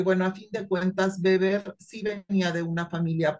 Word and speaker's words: Weber: tarde okay Bueno Max beber y ojo se dice beber porque en Alemania la W no se pronuncia como G sino como como labiodental OK Bueno pues Max